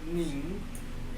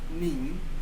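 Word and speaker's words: 您: Nin. só que é segundo tom e tem um nasal aí, né, no final. Nin.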